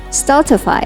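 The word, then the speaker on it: stultify: degrading or frustrating means not totify or stall t5 but stalled by staltify hamish cozy and unpretentious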